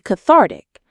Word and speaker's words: cathartic: It can be cathartic. That's our next word. Cathartic. Cathartic. Stress on the second syllable.